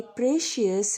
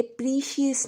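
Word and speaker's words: precious: ये बहुत कीमती तस्बी है, this is a very प्रेशियस rosary, this is very प्रेशियस rosary. याद रखिए इसकी प्रोनाउंसिएशन है रोज़री, कीमती को बोलेंगे प्रेशियस, प्रेशियस, ये प्रीशियस नहीं है, दैट इज़ प्रेशियस।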